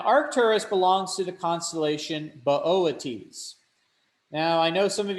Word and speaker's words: Boötes: Now, Arcturus belongs to the constellation Boötes. Now, I know some of you might be laughing because it looks like it's literally booties.